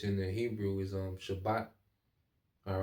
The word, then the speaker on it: Shabbat: the Hebrew is um Shabbat all right Shabbat okay um it going to it all right so it's not spelled like shabbath all right like the Sabbath but the Shabbat okay um so let's